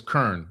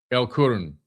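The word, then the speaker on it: El Qurn: I think it's Kurn. L Q U R N. Kurn. El Kurn. That's what That's how you say it.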